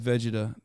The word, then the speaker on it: Vegeta: character in Akatsuki that that yes I said Vegeta that's the right way to say it I